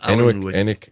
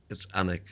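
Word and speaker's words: Alnwick: That's not Allenwick. It's Annick.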